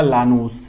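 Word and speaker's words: Llanos: तो ये है लानूस, इसका प्रोनाउंसिएशन होगा लानूस, ठीक है ना, प्रोनाउंसिएशन क्या होगा, लानूस, बिल्कुल बिल्कुल, वेनेजुएला एंड कोलंबिया।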